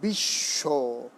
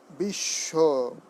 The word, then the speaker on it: বিশ্ব: রয়েছে এমনিতে, অন্তস্থ ব যখন হবে কোনো শব্দে দুবার উচ্চারণ হবে, যেমন বিশ্ব, কিন্তু বর কিন্তু উচ্চারণ হচ্ছে না, যেহেতু এটি অন্তস্থ ব, হ্যাঁ। লয়ের পরে ছিল আগে, এখন লয়ের পরে সেই বটি নেই, তাই কি হবে? বিশ্ব, বিশ্ব।